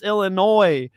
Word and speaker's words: Illinois: THE S is silent, We stole that from the Native Americans, okay? It's Illinois.